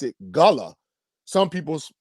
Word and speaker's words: Gullah: people do pronounce it gullah so if you say gullah you're not really saying it wrong it's just you're saying it in another way but it's it's called